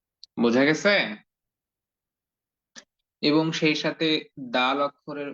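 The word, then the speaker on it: دال: জায়গা থেকেই উচ্চারিত হয় দাল অক্ষরের মাখরাজ হচ্ছে জিহ্বার আগা সামনের উপরের দুই দাঁতের এর গোড়ার সঙ্গে যুক্ত করে দাল অক্ষরটি উচ্চারণ করতে হয় তো আপনারা সকলে একটু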